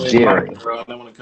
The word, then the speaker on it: Gerry: So, the term gerrymander comes from a brother whose name, his last name is pronounced Jerry.